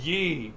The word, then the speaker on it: Yi: that the rendering is called yi or e or e in traditional mandarin it's e e but like it doesn't sound that sounds like i'm just making a